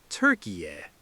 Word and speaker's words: Türkiye: Tor, ki, ye. First syllable, a guided holiday sightseeing holiday, which is a tour. Tour. Second syllable, what you use to unlock a locked front door, a key. Key. Third syllable, shouting out a relaxed, casual agreement sound, a yeah. Snap them together fast with the main stress at the very front.